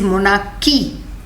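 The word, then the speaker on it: monarchy: Don't say मोनार्ची, इट इज मोनार्की. H is silent.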